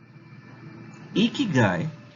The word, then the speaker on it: ikigai: so let's find out ikigai is pronounced as e guy it's a japanese concept